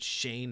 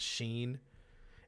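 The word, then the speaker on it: Schoen: whole bunch of other people shane is it shane not sheen it's s-c-h-o-e-n joe shane adam sheen comes up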